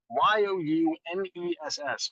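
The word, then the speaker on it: Youness: It's spelled Y-O-U-N-E-S-S for you-ness, because it's all about you here at Dora May Jewelry.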